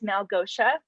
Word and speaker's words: Malgosia: chance to meet yet my name is mel gosha and there's the phonetic pronunciation of my name it's uh the i sounds like an h and i am currently